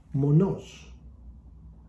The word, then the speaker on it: μόνος: The next word I want to share with you is Monos. That means single, not double, single. So that's the explanation. So monos is on the second O, as opposed to monos,